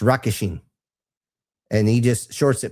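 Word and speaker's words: Rockasheen: The way with it's not Regishen, it's Rockishin. R-O-C-K. And it's actually the true spelling that I looked this up from an actual existing dragon's name is R-O-C-K-A-S-H-E-E-N. It's Rockishin.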